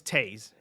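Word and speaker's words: Toews: Rest assured, it may be spelled like Toes, but it's Taze.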